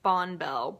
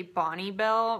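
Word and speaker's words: Bonne Bell: Where I'm from, everybody says Bonbell, but I think it's actually Bonnie Bell, which is so weird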